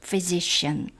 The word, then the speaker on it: physician: PH는 F 발음입니다. 의사, the great physician.